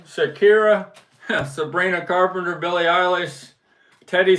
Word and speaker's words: Shakira: have Shara how do you say her name Shakira Shakira Sabrina Carpenter Billy ish Teddy swims and Charlie